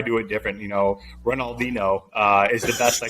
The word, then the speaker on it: Ronaldinho: that happened with the soccer player is that Ronald Dino is that how you say his name um